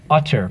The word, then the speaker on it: utter: reiterate reiterate art tur utter please make sure you say that correctly divide the syllable by the double consonant love the etymology for